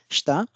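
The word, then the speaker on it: 下: Kun'yomi, the most popular pronunciation of this character is shita.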